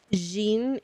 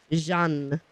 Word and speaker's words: Jeanne: I keep saying her name wrong. Jeanne.